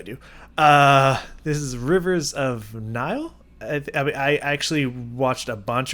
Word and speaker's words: Nihil: So I'm assuming it's Nile, kind of like the river Nile, the Nile River, you know.